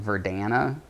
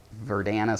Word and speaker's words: Verdana: My favorite typeface, probably, and this is going to sound really nerdy, is, I think you pronounce it Verdana, and I really like